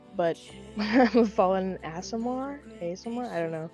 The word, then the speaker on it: Aasimar: I don't know how to pronounce my species name or my race name, but I'm a fallen Aasimar? I don't know. Aasimar, yeah.